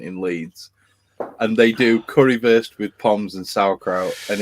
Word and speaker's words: currywurst: So like a W in German is pronounced like as a V. So it's currywurst rather than worst.